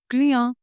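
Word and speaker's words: client: को हम बोलेंगे क्रिया अब देखिए स्पेलिंग यहां पे क्लाइंट वाली है ओके स्पेलिंग सेम क्लाइंट प जो हम इंग्लिश में यूज करते हैं बट प्रोनंसिएशन विल बी कया कया टया इन फ्रेंच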